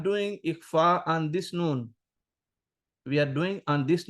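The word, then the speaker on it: ن: pronounce noon no properly normally when you when we pronounce noon our tongue or tip of our tongue touchs in the roots of teeth here noon noon but in case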